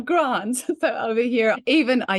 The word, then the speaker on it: Grant: And I mean, that's one syllable, but the Aussies managed to call him Gra. I'm like, really? You've committed to the first three letters. Just say the next two, Grant, not Gra, Grant.